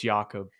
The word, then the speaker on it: Jakob: But he's Austrian, so it's Jakob.